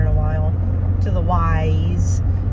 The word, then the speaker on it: Weis: So I think it's, if you're from Pennsylvania, you say Wise, even though it's W-E-I-S.